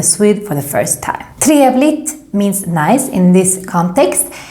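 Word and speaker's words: trevligt: for the first time triablit means nice in this context and here we don't pronounce the g so much it's like we're saying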